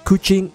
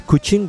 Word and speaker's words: Kuching: Now the word Kuching in the Malay language sounds like the word for cat, and therefore you'll be seeing a lot of cat statues around here.